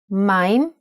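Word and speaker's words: מים: Mayim is water in Hebrew.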